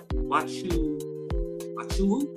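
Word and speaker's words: Nwachukwu: Wachuwu. I think her last name is Wachuwu. Because the N is silent.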